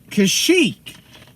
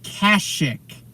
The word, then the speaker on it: Kashyyyk: Kashyyyk is how I've always heard it pronounced, okay? Yeah. The Wookiee homeworld. In KOTOR, Bastila pronounces it Kashyyyk, which I don't know is if that's the British accent doing it, but I've also heard others say it that way.